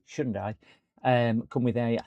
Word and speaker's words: Hyundai: Um the Shundai now, which aren't called Hyundai. You've got to pronounce it Shundai.